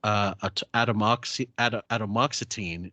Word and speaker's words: atomoxetine: Strattera generic atomoxetine is available. I'm not going to spell that one, but think of atom and oxetine, as in the mighty atom or splitting the atom.